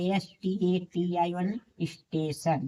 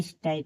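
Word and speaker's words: station: देखिए इसी प्रकार एस टी ए टी आई एन स्टेशन। देखिए टी के बाद आई वन लिया है स्टेशन नहीं कि स्टयन स्टोन नहीं पढ़ेंगे इसे स्टेशन पढ़ेंगे एक्शन ए सी टी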